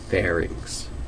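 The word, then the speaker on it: pharynx: into the ferx and that's a two- syllable word fair and inks Fair inks not well I'm not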